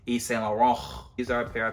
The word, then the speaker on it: Yves Saint Laurent: You know, when you say YSL, you gotta say it how they say it, Yves Saint Laurent.